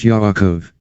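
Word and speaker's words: יעקב: not his real name it was yarakov pronounced yaakov the letter j in hebrew should always be ignored it was not a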